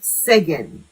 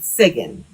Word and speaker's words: Sugan: This god name is pronounced Segen. It's spelled Sugan. It's pronounced Segen.